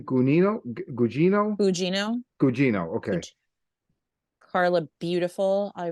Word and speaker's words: Gugino: Gugino.